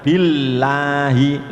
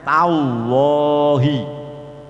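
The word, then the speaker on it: الله: Maka bacanya billahi, lidahnya ada di gusi. Ketika dibaca sebelumnya dibaca fathah atau dhammah, lamnya menjadi tafkhim, bacaannya tallahi, abdullahi. Yang perlu diperhatikan cara membacanya, lidah tetap harus nempel pada gusi karena asalnya kan lam.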